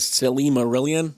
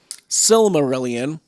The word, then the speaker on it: Silmarillion: love the silmarillion silmarillion see i even say it wrong sometimes the silly marillion the cell it's the silly marillion no it's the silmarillion but people talk about